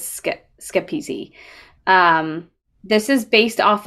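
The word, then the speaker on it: Schepisi: directed by fred schepsi uh or skip skip easy i think is how you say it i had to listen to like a couple of other people saying it out loud but i think it's skip easy um this is based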